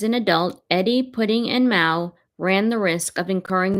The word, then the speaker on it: Maow: Her love for Eddie, Michael, and Mao, the rhyme with now as he was known, and Alexandra, or pudding as the family called her during her adolescence, was total.